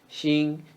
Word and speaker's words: 心: Xin is shin with flat tongue in the first tone.